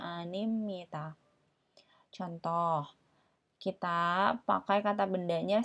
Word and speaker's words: 입니다: ga tambah animita ya penulisannya anibnida tapi dibacanya animita contoh kita pakai kata